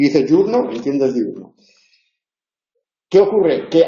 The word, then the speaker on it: diurno: diurno no y cuando habla rápido puede decir jurn o puede decir jurno y Y tú a los efectos de comprensión si está hablando rápido y dice jurno entiendes diurno qué ocurre que a efectos del